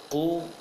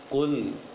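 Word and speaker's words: قُلْ: Jadi bacanya kul, bacanya kul. Qul.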